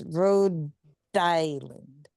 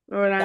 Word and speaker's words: Rhode Island: It's Rhode Island. Rhode Island. Island or island. Row as in the Greek letter and then as as in the land of D.